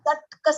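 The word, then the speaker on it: ṣaṭka: Now, ta ke niche there is one halant. You can see the halant underneath the ta. That means the ta is half. It is without the vowel a. So it is Okay. satka sampati. It is not shatak sampati.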